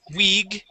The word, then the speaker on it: wig: white gloves okay so instead of saying wig and using a an e sound this is wi wig and white gloves try that please